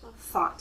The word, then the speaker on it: thought: Thought. And watch pronunciation. Thought. Thought. Good. Thought. And how do we spell it? T-H. Think. Thought. G-H-T. See? Mm-hmm. Okay. Yeah. Thought. So that's silent.